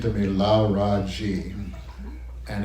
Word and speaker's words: Laraaji: And it's an evolution from Larry Gordon to involve the Egyptian name for sun god, Ra. Yeah. And I'm saying, wow, 3 syllables, sun, this is a sign I should follow.